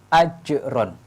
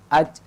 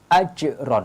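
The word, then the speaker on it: أَجْرٌ: huruf Qalqalah Hai maka cara membacanya ajrun tidak boleh AD Hai karena kalau add-on ini qalqalahnya tidak tampak ini salah harus ditambahkan qalqalahnya ajron Hai ceknya ditampakkan kemudian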